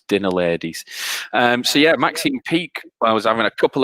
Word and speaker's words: Maxine Peake: um it's an actress it actually does rhyme with weak as well you don't know any actresses um if it wasn't if it wasn't kevin they don't wanna know it was maxine peak ah she was in